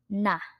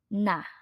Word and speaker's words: 나: topic noun I or in Korean it is na nah in the next one we have here our